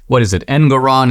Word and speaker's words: Engoron: The judge, an extreme leftist, Engoron, is that the guy's name? It rhymes with moron.